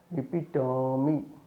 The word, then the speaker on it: epitome: E, note epitome, epitome, epitome, epitome, epitome, epitome, epitome, not epitome. It is epitome. O pronounced. O is pronounced as a.